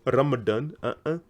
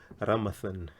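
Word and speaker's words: Ramadhani: to hear tougher Dolly we don't have tougher Dali or Ramadan we have ramasan tafasali what if you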